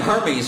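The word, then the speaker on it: Hermès: It's pronounced Hermes.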